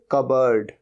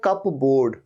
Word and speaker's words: cupboard: और या फिर एक वर्ड और यूज होता है इसके लिए, कबर्ड, कबर्ड, लेकिन स्पेलिंग क्या होती है, CUPBOARD। तो लगता तो ऐसे कप बोर्ड, कप बोर्ड नहीं, ये होता है कबर्ड।